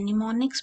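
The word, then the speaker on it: mnemonics: निमोनिक्स क्या होते हैं निमोनिक्स में मैं बोल रही हूं यानी एम साइलेंट है तो निमोनिक्स ऐसी स्ट्रेटेजी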